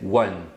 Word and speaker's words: one: número um você pronuncia One e esse U que você fala no início é uma semivogal então ele é o som do W né Então você fala